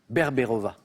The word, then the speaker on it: Berberova: L'Accompagnatrice, c'est de Nina Berberova. Ah, prononce.